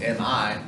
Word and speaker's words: mi: word me sounds like the word m e me but this is mi and it means mine pretty obvious right